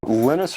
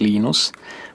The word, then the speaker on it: Linus: lenus Torvalds came along lus or Linus what's the exact your preferred pronunciation um when I speak Swedish it's lus when I speak Finnish it's lenus when I speak English it's lonus and I really don't care